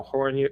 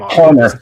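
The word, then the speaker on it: Hoerner: Nico Horn. I'm sorry. I mispronounce his name all the time. Nico Horn. I'm Horner. Just Just pretend that he isn't there. Horner.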